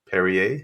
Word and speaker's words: Perrier: PPC candidates Miss Deborah perier is that correct it is yeah just like the water that's good that's what